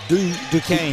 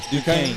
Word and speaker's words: Duquesne: Duquesne. Duquesne. Okay. Duquesne.